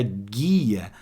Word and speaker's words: guia: mesma coisa aqui ó no G1 da palavra guia eu não escuto o som do U se eu não escuto o som do U ele junto aí com esse G forma um dígrafo consonantal combinado vamos lá então